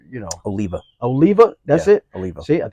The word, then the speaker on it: Oliva: uh I always say it wrong is it Olivier Olivia like you know Oliva Oliva that's ITA see I told you I